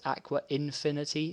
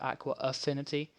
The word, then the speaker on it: Aqua Affinity: a silly name that most people pronounce as aqua infinity instead of aqua affinity which i find really